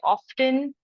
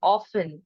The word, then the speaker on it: often: for example there are many people who say often and often which is the right one both are equally fine okay schedule and schedule